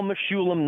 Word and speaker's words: Mechoulam: Yeah, I'll spell it so everybody knows. It's Mechoulam.